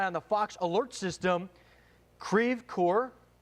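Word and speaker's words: Creve Coeur: it was moving towards kraev coer and that's where we got on the Fox alert system ceve core okay I'm getting ceve core is the confirmation from locals there telling us the correct pronunciation thank you for those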